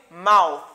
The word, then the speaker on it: mouth: Ça, c'est mouth. Mouth. Mouth. Mouth. Pas dit mouf encore.